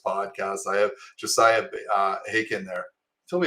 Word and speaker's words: Haken: I have Josiah uh haken there tell me it rhymes with bacon so I almost said